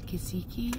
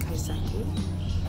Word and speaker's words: kaiseki: Kisiki?